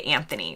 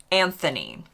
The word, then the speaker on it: Anthony: would almost always say Anthony we would pronounce the uh H and we would say Anthony I got to the